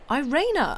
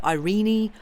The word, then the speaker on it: Irene: maybe in a footnote IR is actually Ira Irena oh right because it's supposed to be sort of Germanic yes I didn't i'